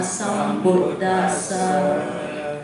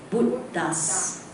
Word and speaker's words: Sambuddhassa: The most difficult is this one, Bud. You put the Bud and then you put the Das. Buddhas. Okay? Bud, because it should break here, you know. We should break here. Okay? It kind of like dash here, okay? Some Bud, then Das.